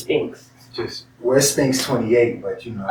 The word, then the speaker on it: Sphinx: Oh, wait, I've been saying it wrong? Why do I want to say Sphinx? But it's just Sphinx.